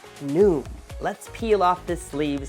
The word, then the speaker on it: NWM: wired model down here are the letters nwm but you pronounce it new let's peel off this